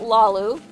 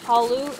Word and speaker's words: Hlaalu: Gaming Community pronounce it Lalu okay sure fine um I actually prefer the hollow pronunciation um like the L being silent and it being pronounced Halu instead of Lalu um that's just my